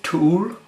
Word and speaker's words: To Øl: It's thank you to Jacob who helped me pronounce this beer, but I believe it's Tool, and it is there.